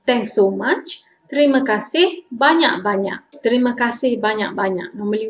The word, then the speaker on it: terima kasih: Thanks in Malay is terima kasih. But normally we like to say fast, terima kasih. Terima kasih, thanks so much. Terima kasih banyak-banyak.